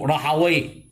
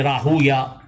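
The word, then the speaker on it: راهويه: Alors, du bon qui nous connaît, ban muhaddithin jamais pas prononce Ishaq ibn Rahawi. Ban muhaddithin de Dabtul, ça c'est Rahuya.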